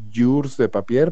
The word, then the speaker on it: Jours de Papier: a ver qué dice yours de papel pero se escribe para peter entonces era terrible porque además es entonces es muy largo y como no suena como sé cómo se escribe pues es terrible porque